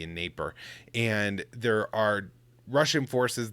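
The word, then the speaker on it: Dnieper: of on the the naper river it's spelled with a d but i don't think you pronounce the d in neighbor and there are russian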